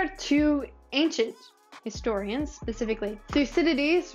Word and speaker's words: Thucydides: There are two ancient historians, specifically Thucydides, which is pronounced with as many syllables as it looks like, and Herodotus, who has a forgivably pronounceable name compared to his counterpart.